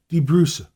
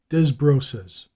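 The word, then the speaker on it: Desbrosses: The Dutch called it De Bruce, but in New York today it is commonly spoken of as Des Brosses.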